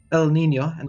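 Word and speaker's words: El Niño: The recent climate phenomenon, El Nino and La Nina, which is how you pronounce them, will also increase in intensity and cause more havoc in the Pacific.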